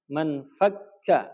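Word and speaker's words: ما انفكّ: Bacanya kita man fakka, ya, di atas kaf ada tasydidnya.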